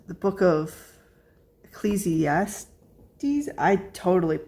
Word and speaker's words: Ecclesiastes: it's the Book of Ecclesiastes I totally mispronounce that wrong Eccles I yeah c e c l e s i a s t e s so e Ecclesiastes I definitely pronounce that wrong but it talks about